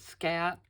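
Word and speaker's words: Skat: name of the game I pronounce it scat but it's German so it's probably not that but it doesn't have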